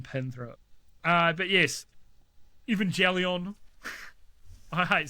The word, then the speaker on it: Evangelion: So I've always thought it was pronounced Evangelion. Yeah. But then the song Lost by Bring the Horizon, he has that line where it's like, watching Evangelion with a big fat slug of ketamine.